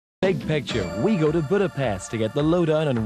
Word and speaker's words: Budapest: Hi, I'm Kurt Loder, and we're here in the Hungarian capital of Budapest, or Budapest as it's pronounced, straddling the Danube River about 100 miles east of Vienna.